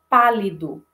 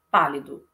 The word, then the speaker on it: pálido: Então, por exemplo, na palavra, a primeira, pálido. Pálido. Então, a intensidade maior está na sílaba pá. Pálido. Eu não falo pálido e nem pálido. Eu falo pálido.